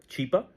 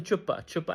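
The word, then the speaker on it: Chhipa: A humanitarian, his name is Chipa, Mr. Chipa, and she starts mispronouncing and she calls him Chupa, and yeah, Chupa is look it up, and that became a meme in itself in Pakistan.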